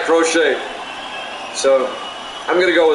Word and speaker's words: Crochet: I think it is Crochet. Hernandez takes a big swing, strike 2. Count goes to 1-2. Because it's spelled just like Crochet.